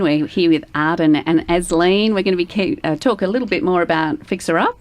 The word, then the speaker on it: Asleen: So no, it's Asleen. So it's like asleep but with an N.